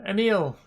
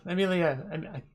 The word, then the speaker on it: Emil: Because he pronounced his name like a meal, I have a meal, food.